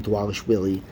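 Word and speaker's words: Dvalishvili: Walsh Willy that's how you say his name dwallis Willy I see Jose Aldo taking over this fight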